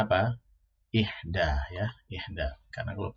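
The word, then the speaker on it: إحدى: Ihda ya, ihda. Karena kalau bentuk perempuannya untuk bilangan ini bukan wahidah tetapi ihda ya.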